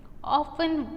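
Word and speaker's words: often: फिर है ऑफ्टन, उसमें साइलेंट लेटर कौन सा है? ऑफ्टन, तो T। ऑफन पढ़ा जाता है उसको।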